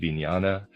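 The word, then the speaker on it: vijnana: I'm pronouncing it vinyana.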